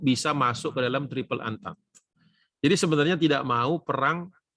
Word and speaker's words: Entente: Saya sebutnya Entente aja supaya pakai lidah Indonesia, tapi bacanya yang benar itu Triple Entente.